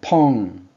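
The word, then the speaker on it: pão: 포르투갈은 이 발음 기호가 펑 이렇게 됩니다. 그래서 이게 이 오가 응 발음이 나요. 펑.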